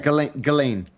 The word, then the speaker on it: Ghislaine: Galain. Galain. I can never pronounce Gain Lady Galain Maxwell.